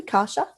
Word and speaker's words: Kasia: energy beautiful thank you am i saying your name correctly kasha yes absolutely you're one of the few rare jams who knows how to pronounce it so i am elena